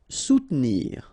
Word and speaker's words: soutenir: Soutenir. Okay, so sous first, and then don't insist on this here. Soutenir, soutenir.